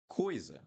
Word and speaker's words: coisa: Other thing that is important in Portuguese, guys, when you have two vowels or three vowels in a word, you need to pronounce each one. So coisa, coisa.